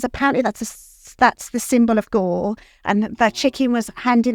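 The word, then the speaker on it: Győr: It was a place called, I hope I'm pronouncing this right, Gore, in Hungary. Gyor it's spelled, the city.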